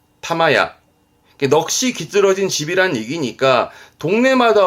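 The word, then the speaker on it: 霊屋: 발음은 타마야, 타마야.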